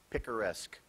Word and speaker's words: picaresque: Picaresque. In the picaresque novel Don Quixote, the hero has many adventures. Picaresque. Can you pronounce it again?